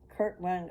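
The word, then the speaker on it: Kirtland: the Kurt Kurt one I was saying it wrong it the Kurt k i r t l a n d kurtland Ohio Temple it's first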